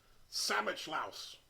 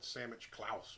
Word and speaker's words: Samichlaus: it in the unboxing i think i added an extra c and try to call it sammich klaus but it looks like